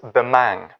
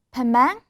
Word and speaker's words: Bemang: Sure, it's Bemang. Pemang? Bemang. .. No, B-E-M-A-N-G.